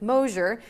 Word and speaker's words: Mosher: Spotlighting at the time when we first launched, it was August of 2013, we launched the Exposure with Mosher TV show. So that, of course, rhymes with my maiden name, so I'm, professionally, I'm Mosher-Berry, hence the 3 names.